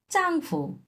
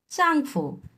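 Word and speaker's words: 丈夫: এরপরটা চাংফু। চাংফু। এই ফুটা নিউট্রাল টন।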